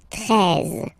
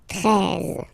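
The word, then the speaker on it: treize: Final E, as usual, not pronounced. 13. 13.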